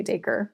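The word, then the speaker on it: Dacre: it's like the word acre with a D. But I'm also Southern, so I don't know if that also plays into how I'm pronouncing the name. But I don't care. I mean, people can pronounce it however they want, but I say Daker.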